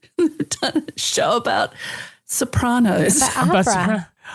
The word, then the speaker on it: Sopranos: Yes, it's Sopranos. It's the Sopranos. It's the Sopranos. It's like Nevada.